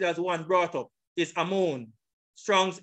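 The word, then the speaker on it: אָמוֹן: Brought up is this word, Amon. This is the pronunciation.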